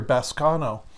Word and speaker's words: baskano: It's interesting, the word that he used here, baskano, in the Greek, that's how I pronounce it, B-A-S-K-A-N-O.